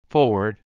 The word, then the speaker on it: forward: Let's pronounce. Forward.